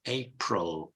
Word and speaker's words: April: April with a schwa, April, April, April, April with a schwa, not April or April, it's April, April, April.